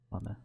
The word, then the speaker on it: plumber: Plumber. No. Yeah, it's a Silent B plumber.